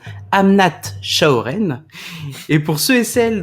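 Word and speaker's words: Amnat Charoen: très rurale qui s'appelle, et attention à la prononciation, Amnat Chaoren.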